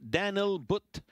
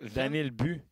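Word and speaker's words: Daniil But: coyottes viennent de sélectionner Daniel But un russe ou Daniel Bu. Ouais Daniel Bu. Ouais mais ça s'écrit But là mais il semblerait qu'on prononce Daniel But.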